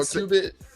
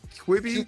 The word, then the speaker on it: Quibi: Or Qubit. No, Quibi. QE, I think. I don't know how to pronounce it, but I know the one you're talking about.